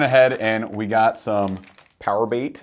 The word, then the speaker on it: PowerBait: But we went ahead and we got some power bait. It's max scent flukes. It's pronounced purr bait. Purr bait, max scent.